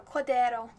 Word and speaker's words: Cordero: I feel like you need to like half roll your R's on that for it to be correct, so Cordero.